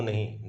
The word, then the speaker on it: know: आई can hear the bird song, HEAR, सुनने वाले को हियर कहते हैं। डू यू नो a secret, KNOW, इसमें के साइलेंट होता है, नो पढ़ते हैं, कनो नहीं, नो।